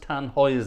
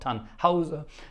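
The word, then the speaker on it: Tannhäuser: rishard Wagner's tan hoer it's pronounced tan hoer and not taner tan tan hoer not taner there you are tan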